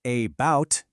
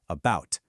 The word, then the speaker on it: about: Take the word about. We don't say about, do we? No, we put the stress on the second part about. And because that first a is unstressed and weak, it turns into that lazy schwa sound about.